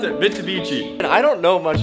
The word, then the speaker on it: Mitsubishi: beachy shaft here dude how do I even pronounce it Mitsubishi and I don't know much about clubs I